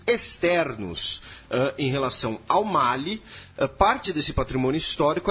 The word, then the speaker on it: Mali: Mali ou Mali? Eu falo Mali. Mali eu acho que a pronúncia francesa, né? Como mal era colônia francesa. Aqui tem um amigo da Guiné Bissau que é vizinha e que se refere como mali. Ah, acho que estão valendo as duas, entendeu?